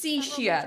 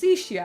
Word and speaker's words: Sishia: Sorry, but the suspension of Sishia. That's how it's pronounced. Sishia.